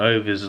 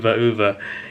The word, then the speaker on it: Ove: It's the same for the most part, but in this one, Ove's like Ove's in tears and crying. In the Tom Hanks version, I said Ove, it's pronounced Uwe actually, or Uwe.